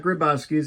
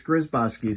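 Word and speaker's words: Grzybowski's: It's not Gryzbowski's, it's Gryzbowski's. You would think as a Polak I would know that.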